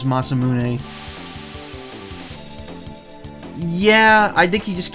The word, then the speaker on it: Masamune: It's supposed to be Masamune. That's how it's pronounced. But he'll occasionally say Masamune. I think it's a mistake a lot of people make, though.